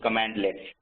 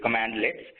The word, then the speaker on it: cmdlets: First thing that, and the most important thing, the way it's known is commandlets. CMDLETS, the way it's pronounced is commandlets.